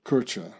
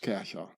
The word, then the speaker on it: Kercher: gouda just like uh kercher and as the german name is actually pronounced kesha so it's very interesting